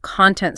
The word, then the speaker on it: content: We are using the adjective content stress on the second syllable.